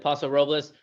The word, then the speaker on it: Paso Robles: So there's one thing, Jamie just said, Paso Robles. I never figure out how to say it. So that is, I'm not the leader of pronunciation, but that is how you say it.